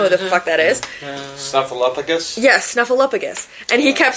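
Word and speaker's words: Snuffleupagus: Stuffaluffagus. Yes. And he's saying Stuffaluffagus. It's Stuffaluppugus. It's Snuffaluppagus.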